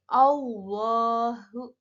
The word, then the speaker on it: Allah: Nah, ada hukum bacaan lam jalalah tafkhim, yaitu lafaz Allah didahului oleh fathah. Nah, cara membacanya itu adalah dibaca tebal. Jadi Allahu. Nah, seperti itu.